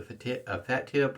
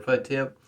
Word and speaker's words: Fatip: for this one here is a fat tip or a foot tip depending on how you want to pronounce it this one here